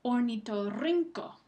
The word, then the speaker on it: ornitorrinco: Ornitorrinco. Ornitorrinco. Rin es la sílaba que recibe el énfasis.